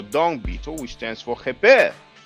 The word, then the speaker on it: Kheper: Now the Kh is a bit difficult to pronounce. That sound doesn't exist in French or English, so a lot of people pronounce it like a K. So they pronounce it Keper.